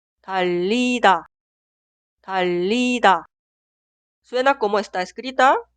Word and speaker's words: 달리다: Escucha mi pronunciación. 달리다, 달리다.